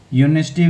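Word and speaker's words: university: गया वाई से आया और यूनिवर्सिटी भी यू वाई साउंड आया ना ये वाई यू यूनिवर्सिटी ये नहीं यू से नहीं कंफ्यूज हो जाना साउंड पे यहां पे स्पेलिंग नहीं देखनी है focus on sound not on spelling ध्यान रखना कभी भी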